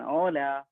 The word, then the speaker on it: hola: നമ്മൾ സ്പാനിഷിന്റെ ആൾക്കാർ പരസ്പരം എപ്പോഴും കാണുമ്പോൾ അവർ ആദ്യം പറഞ്ഞ ഓല, ലൈക്ക് ഹായ് പറയുന്നത് പോലെ അവരുടെ ബേസിക് ഗ്രീറ്റിംഗ്സ് ആണ് ഓല. ഓക്കെ, സോ ഓല, ഓയ്, ഓറ. സോ എച്ചിന് ഹ് സൗണ്ട് ഒരിക്കലും കൊടുക്കാൻ പാടില്ല. നെക്സ്റ്റ് വളരെ ഇൻട്രസ്റ്റിംഗ് ആയിട്ടുള്ള ജെ ആണ്.